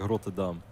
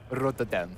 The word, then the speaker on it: Rotterdam: Rotterdam. Wow. Yeah. See how good that pronunciation But is? Dutch people would say like Rotterdam. Rotterdam.